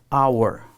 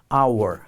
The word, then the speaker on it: hour: notem que a gente não fala esse All our our a gente não falo o h Diferentemente por